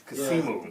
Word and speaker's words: Kasimu: Your homie El Kamisu Harris, Kasimu. Kasimu. I always mix up the two syllables.